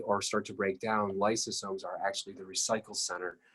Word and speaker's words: lysosomes: exported to somewhere else in the body that's pronounced lysosomes l-y-s-o-s-o-m-e-s i always think of these as a